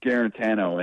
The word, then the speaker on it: Guarantano: times throughout his career the weird thing with guarantano and that's the pronunciation that we were told to switch to